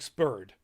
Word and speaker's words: Superd: Or Japanese, so they spell it Superd, but obviously SU, you almost never pronounce the U, so it's more like Spurred.